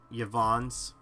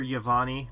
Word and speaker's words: Yvonne: more cooler compared to Yvonne's. And yeah, I know, the last two videos and stuff, I called her Yavani because of the E, but the E is silent, so it says Yvonne.